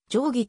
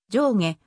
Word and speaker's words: 定義: 発音に習って定規と記載しているそのため現在の仙台市民の中では上下定規の 2 つの発音が混在している仙台